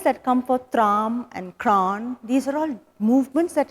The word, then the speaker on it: kran: Kran is a very peculiar sounding word because it's when 2-3 syllables and come together and make that sound, it's very difficult to get the real organic accent, to try and get that kran into your syllable vocabulary.